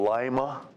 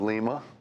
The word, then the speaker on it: Lima: Got lots of variations of pronunciations, but there's also a Lima, Ohio instead of Lima, yeah.